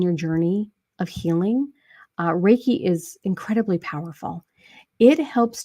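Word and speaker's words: Reiki: NLP I think that is so awesome uh raik Master can you explain and and I know I mispronounced the word uh my wife is a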